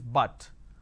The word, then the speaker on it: but: different sound for example put is put but but is but so it's different right